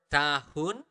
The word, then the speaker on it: tahun: one more time slower tahun this is a little a very interesting note for you guys we usually do not really we do not really pronounce the letter h so we do not